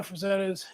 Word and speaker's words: Frazetta: So I had to work on the Frazettas.